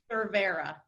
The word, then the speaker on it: Cervera: How do I say her last name? Cervera. Severa? Cervera, yeah, Jennifer Severa.